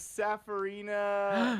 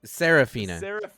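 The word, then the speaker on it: Seraphina: her her name was safarina M splitter no I get an extra turn you pronounced it wrong it's it's not it's saraphina s Sarina no you said Sarina I get an extra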